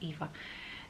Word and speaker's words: Eva: Even when Eva gets called Ava now, it's really difficult and awkward to say, oh, it's not Ava, it's Eva.